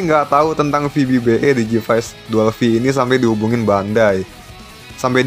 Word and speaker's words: Dual V: Bacanya Dual V bukan Double V ternyata guys.